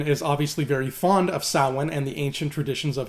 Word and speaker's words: Samhain: fact they mispronounced it everybody in that movie called it Samhain which is how it's spelled but not how it's said so Halloween 3 is